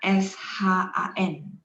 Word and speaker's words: 山: Yang bagian ketiga XUAN sama SHAN.